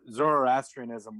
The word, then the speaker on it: Zoroastrianism: even Islam but um pardon my if I mispronounce this but like Z Zoroastrianism would have been the religion most dominant in